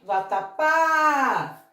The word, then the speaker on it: vatapá: E chamando essa palavra, vatapá, temos a sílaba tônica justamente aqui, na última, tratando-se de uma oxítona.